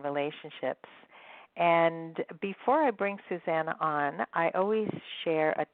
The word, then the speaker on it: Susanna: today I am excited to be speaking with Susanna mm I think that is how you pronounce your name is that right yeah totally